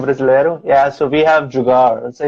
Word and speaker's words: jugaad: So we have jugar. So it's the same thing. Oh, really? How do you spell that? Same thing. How do I say that? It's Jugaad, jugar.